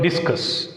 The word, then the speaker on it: discuss: And come to the next word, discuss. Here the word discuss is a verb. That's why you put stress on the second syllable.